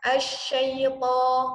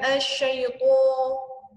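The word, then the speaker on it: الشيطان: Ya, jadi dibuka, asyaito, bukan asyaitu, gitu.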